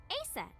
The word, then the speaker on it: Aset: Horus's mom is named Isis, but in ancient Egyptian, it's pronounced closer to Ise or Aset.